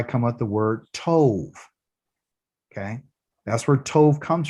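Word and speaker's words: טוב: But because it doesn't have a dot in it, it gives it a V sound. Okay. And so we're reading from over here to here. And if I wrote it out, it'd be T-O-V, and that's Tove.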